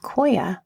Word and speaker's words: Qoya: And that is the philosophy of Koya, which is spelled Qoya.